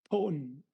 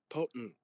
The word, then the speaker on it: potent: you uh the the T you stop your tongue and the bottom of your sorry your your tongue and the top of your mouth your pallet you stop p and then like import import your your uh your tongue stops at the top of your your mouth your your your mouth uh and then you just important important potent Yeah.